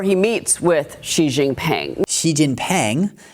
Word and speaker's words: Xi Jinping: Xi Jinping, neither of these are right, okay? His surname is Xi, which it starts with X, and the X sound in Chinese, to